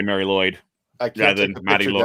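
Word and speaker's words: Mari Lwyd: Really, the R is more pronounced more closer to a D in actual Welsh, but it's just easier to say Mary Lloyd.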